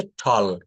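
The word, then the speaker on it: tall: যেমন এটাকে বলা হচ্ছে টল। টল মানে লম্বা, আমরা টল বলি, এটা টল বলা যাবে না, টল।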